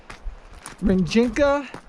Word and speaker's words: Rijeka: You know who this is already coming at you from, and I finally know how to pronounce the name of this village that I'm in. It's Rijeka, which actually means river, and in Srpski, and